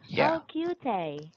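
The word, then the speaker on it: Kyu-tae: name is hey hey actually my real name is but the prominent proper pronunciation is hard for you maybe yes you can call me you're my real name is kyu tae cute eh yeah ah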